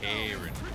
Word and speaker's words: Charon: Charon. Yes, that was the right way to pronounce that word.